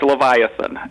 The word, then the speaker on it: Leviathan: so tell me first of all am i pronouncing it right it's right Leviathan and what what the name means it's it's